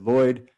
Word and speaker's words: Lhuyd: have from incredible scholars such as Edward Lloyd. His last name is spelled Llhuyd, and he wrote a lexicon that I'll send you when we're done.